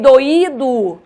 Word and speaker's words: doído: a diferença pela acentuação em doido eu não acentuo eu pronuncio como de tongo em doído eu acentuo o i e aí eu pronuncio como iato certo esse assento ele